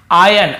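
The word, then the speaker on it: iron: काकी के लकड़हारे की आयन आयरन नहीं पढ़ेंगे आयन पढ़ते य आर सेंट होता है आयन एक्स उसकी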